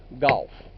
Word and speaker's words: Gough: geo ugh but people if you had to spell it out it would be like gof else it's pronounced ghost